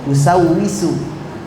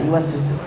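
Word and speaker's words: يوسوس: Yuwaswisu, ya, dia tidak bisa yuwaswisu, yusawwisu, dan kecil dia hafal seperti itu, ya. Yusawwisu alladzi yusawwisu fi sudurin nas. Yuwaswisu enggak bisa yuwaswisu karena udah terbiasa dengan misalnya. Jadi seperti itu, kalian harus membacanya dengan benar sebelum menghafalnya.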